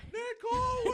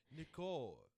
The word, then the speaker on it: Nicole: There's some way that he says the O, I feel like, where he's like, Nicole. Yeah, I think that was better. I feel like it's more like, he doesn't really pronounce the L. It's more like Nicole.